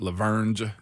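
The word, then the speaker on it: La Vergne: I must admit, I got to stop putting the G in it. Laverne is Laverne.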